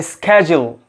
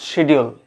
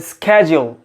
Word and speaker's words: schedule: the correct one of course it is a schedule a schedule not schedule but a schedule that means pericorpuna number two d-e-b-r-i-s is it